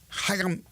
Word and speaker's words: Chaim: But again, calling the shots now is Chaim Bloom. There you go. That's the official pronunciation.